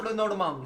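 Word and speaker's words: Le Normand: 그리고 그 후에 로방 르노르망 저 발음이 외국 사람에게 제일 힘든 발음이야.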